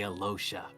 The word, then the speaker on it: Alyosha: saying uh the pronunciation, the proper pronunciation of Aloha is also, but I say Alosha because that's how we've been told to say it.